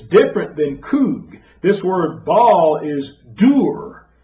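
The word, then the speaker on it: חוג: Concordance in the Hebrew, and it's kug. That's how you pronounce it, kug.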